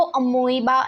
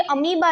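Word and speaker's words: amoeba: उसको अमोइबा नहीं बोलते हैं, उसको अमीबा बोलते हैं. सो ये अमीबा जो है वो एक सिंगल सेल्ड ऑर्गेनिज्म है, यूनिसेलुलर ऑर्गेनिज्म.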